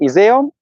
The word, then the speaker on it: Iseo: I think like in English pronunciation is off the table. Iseo.